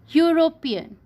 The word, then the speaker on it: European: bubble sound that's why we write a university European so here he is a bubble bird but